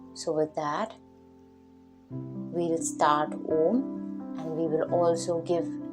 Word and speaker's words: Om: Now Om is made of 3 syllables, A-U-M, and we will try to give every syllable the weightage and the time. A and U together sound O.